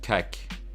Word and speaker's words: kek: Anyway, have you ever tried psychedelics, kek?